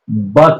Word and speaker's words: birth: होता है यस तो अब इसका आर साइलेंट हो जाएगा उसे रूल के अकॉर्डिंग सिर्फ बर्थ नहीं होगा बात हो जाएगा फिर बन जाता है